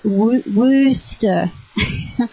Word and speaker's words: Wooster: my mother was born in Australia so well you say it Wooster OH you say like double foot up on the body you say it like rooster yeah and and Lynn